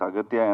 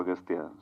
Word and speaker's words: Aghathiyaa: different ways austa yeah in both ways it is pronounced it yeah it's aatya and also austa so I don't know